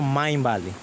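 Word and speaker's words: Mindvalley: Luna y el tercero Main Valley en inglés pero se escribe minvalley Cómo no Entonces ese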